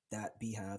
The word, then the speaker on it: beehiiv: Quell is Quell .beehive. So Beehive is a newsletter platform. It's spelled BEEHIIV.